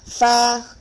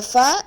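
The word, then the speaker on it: ف: pronounce the sound now the next letter is far the far is a letter pronounced from the lip your upper tooth the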